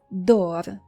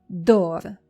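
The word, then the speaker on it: דור: Our next word is dor. Try to say after me. Dor. Dor means generation, or it refers to a period of time. Dor.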